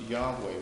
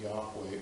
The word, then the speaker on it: Yahweh: And you could pronounce the name, and you would pronounce it, probably was pronounced Yahweh. We know that from the magical papyri, where it appears as Yao.